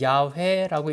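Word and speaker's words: 야훼: 우리 성경에는 여호와로 돼 있습니다. 근데 원래는 야회라고 읽어야 되는데 원래 음가는 야외가 많고요. 더 정확한 히브리어 음가는 에흐라고도 하고 아라고도 하고 하는 히브리어 음가입니다.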